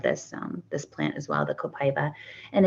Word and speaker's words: copaiba: And it's spelled copaiba. It sounds like copaiba.